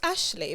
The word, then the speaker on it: Ashleigh: pronounce your name properly is it Ashley or ashy how do you pronounce your name it's Ashley but you know like um I accept whatever people pronunciation comes out because I know it's the one and the same thing yeah yeah so Ashley is okay perfect wow you look